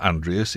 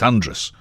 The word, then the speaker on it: Andreas: Radio, corrected me once and said, it's not Andreas, it's Andrus. So I started pronouncing it Andrus, and then people from Andrus got in touch and said, no, that's not how you do it.